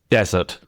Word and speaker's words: desert: Desert, the stress is on the first.